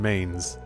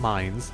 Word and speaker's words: Mainz: a hold up in Mains not mines Mains all that I remember